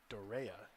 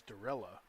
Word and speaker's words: Dorella: I called our starting goalkeeper for 4 years, Andrea Dorea, but it was Dorella. The double L is pronounced in Italy.